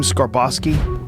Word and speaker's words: Skarbowski: Skarbowski.